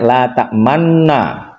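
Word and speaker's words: لا تأمنا: La ta'manna. Bacanya la ta'manna. Aslinya adalah la ta'manuna.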